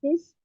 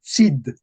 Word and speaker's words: Cid: nuevas, el, Nuevas, el cis, el cis, Cid. Vemos que aquí se dice Cid.